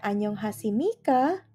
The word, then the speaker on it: 안녕하십니까: Kenapa dibacanya annyeonghasimika? Karena ketika kalian bertemu dengan bacim biep, kemudian di depan bacim biep itu ada nian, maka secara otomatis akan berbunyi menjadi miem, akan berbunyi jadi m.